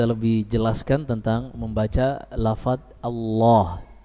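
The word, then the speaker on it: الله: Nanti kita lebih jelaskan tentang membaca lafaz Allah, benar-benar tafkhim Allahu, Allah, Allahu. Iya, jangan dibaca Allahu, ini salah, tapi Allahu tanpa menggerakkan bibir.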